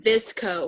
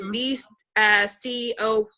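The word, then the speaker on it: VSCO: If you guys are like on Instagram and you see like people's bio, they'll have like Visco or something. VCO, I believe is how it's pronounced.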